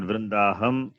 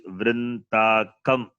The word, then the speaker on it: Vrintakam: It is not Vrindaham. It is Vrintakam. Vrindakam. It is not Vrinda. That is wrong. It is Vrinta.